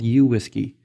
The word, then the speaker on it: WSGI: Community standardized on the whiskey protocol which many people pronounced similar to the word whiskey having a standard protocol